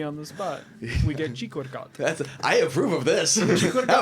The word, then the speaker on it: Sikorgat: Well, you pronounce it like there is an H, but that's Sikorgat.